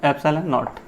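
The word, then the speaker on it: ε₀: इसका प्रोनाउंसिएशन है एप्सिलॉन नॉट, ठीक है ना।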